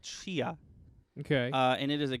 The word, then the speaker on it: Tchia: No, it's Chia. It's TCHIA. So the game's called Chia.